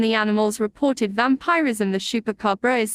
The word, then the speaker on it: chupacabra: The chupacabra or chupacabra's Spanish pronunciation chupacabra, as literally goat sucker from Spanish